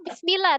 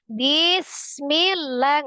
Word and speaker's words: bismillah: atau bismillah tuh. Bismillah ngayun kan mbaknya? Iya, iya, iya. Nah, harusnya bismillah, ya kan? Iya. Sejajar.